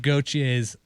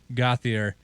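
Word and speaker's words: Gauthier: to talk about how gabe gautier's last name was really gothier and everybody called him gautier in the canadian pronunciation so it just became gaucher yeah and he also said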